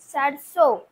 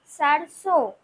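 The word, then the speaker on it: सरसों: সারস। কি লিখবো তাহলে দন্তসর র দন্তসয় ওকার বিসর এই যে আমি এখানে বিন্দুটা দিলাম এই বিন্দুটার জন্যই কিন্তু আমাদের উচ্চারণটা অনুনাসিক হবে মানে নাকে তোলা উচ্চারণ হবে যখন আমরা উচ্চারণ করব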